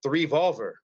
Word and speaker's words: 3VOLVR: and then I actually I pronounced it three Volver and uh the three